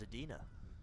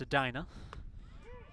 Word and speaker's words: Edina: So I thought it was Edina. It's Edina.